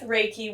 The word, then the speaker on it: Reiki: be so what does Reiki even mean how do you say Reiki you'll hear different people pronounce at different ways so Rey is the first part of that our I I and